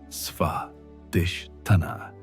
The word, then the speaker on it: Svadhisthana: The ancient texts describe this as developing Svadhisthana, pronounced Svadhisthana, which means self-established or grounded in one's own nature.